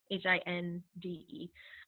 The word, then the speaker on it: Hinde: Katie Hindi. I always say it wrong. I think it's Hind, Hinde.